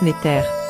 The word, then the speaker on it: NTR: Remarque, la nature est dérivée du mot kémétien NTR qui se prononce Néter.